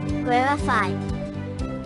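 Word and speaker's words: rarefied: conversation of brilliant Scholars to correctly pronounce rifi accent the first syllable rarify in addition to high-minded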